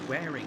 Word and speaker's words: Waring: his Lonesome is Josh Waring so it's wearing isn't it I do apologize every time I read this I say it wrong at the beginning of the season but it is Josh wearing currently running in 15th